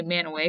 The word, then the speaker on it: Mantua: to man--oh Mint Mantua I say man away because there's a town here in Ohio that they pronounce it that way so there's those two